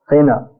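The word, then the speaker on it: phena: And what comes after hard work is pa, sometimes pronounced fa, fena, which means foam.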